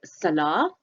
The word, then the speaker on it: Salah: Ramadan is a time for Muslims to pray, which is called Salah, their 5 prayers of the day. That's with a silent T.